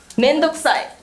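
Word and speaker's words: 面倒くさい: Please pronounce the word. Thank you. Yes, it's the Japanese word, mendokusai. Please repeat after me. Mendokusai.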